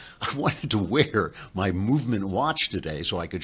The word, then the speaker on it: MVMT: Movement, by the way, for some reason, they took all the letters out of it, so it's not spelled movement, it's spelled MVMT.